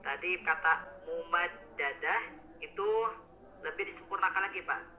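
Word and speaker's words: ممددة: Tadi kata mumaddadah itu lebih disempurnakan lagi Pak. Fi amadim mumaddadah. Kalau tadi maaf Bapak bacanya mumaddadah. Nah harusnya mumaddadah.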